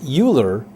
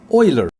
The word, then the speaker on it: Euler: It looks like it should be pronounced Euler, but this German name is pronounced Euler.